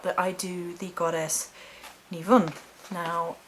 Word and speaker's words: Nemain: I do the goddess Nivun. Now it is spelt Nemain and pronounced Nivun.